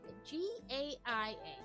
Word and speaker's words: Gaia: gonna say it wrong GA it's g a g a i a so I'm gonna say Gaia Space Telescope has spent